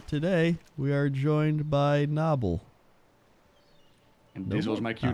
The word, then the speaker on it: Nobbel: But the Dutch way is Nobbel, but a lot of people say Nobbel, Noble. Oh, it is Noble. Nobbel, pretty much like the oh.